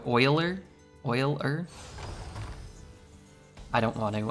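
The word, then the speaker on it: Euler: runs maybe as low as like 5% it's pronounced Oiler Oiler discovered so much they started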